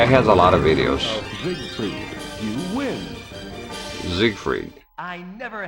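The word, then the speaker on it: Siegfried: The announcer here it says Zigfried but looked up like a pronunciation.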